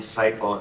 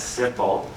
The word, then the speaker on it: Siple: moth is because uh a last name cyle often pronounced wrong as simple and I didn't want